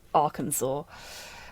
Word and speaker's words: Arkansas: Yeah, it's spelt Arkansas and pronounced Arkansas, which is just...